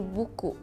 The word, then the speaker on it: buku: It's like B-U-K-U. It's how it's like written. Buku. And you just read as it is, like buku. There's no differentiation in the pronunciation or something.